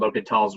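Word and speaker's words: L'Hôpital: we have this rule it's called l'hopital's rule sometimes it's spelled like this sometimes it's spelled as l apostrophe hospital they're both fine um anyway it's called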